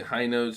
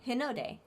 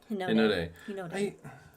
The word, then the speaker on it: Hinode: The High Node spacecraft was actually launched by Japan. Hinode. Hinode. Hinode. American. A-E-I-O-U. That's how they pronounce the vowels.